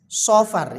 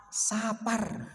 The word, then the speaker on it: Safar: kemudian Safar Sapar ya Shad fa' ro bacanya SH Shad fathah SH ya saofar itu yang benar bahasa Arabnya tapi orang Jawa Sapar karena lahirnya di bulan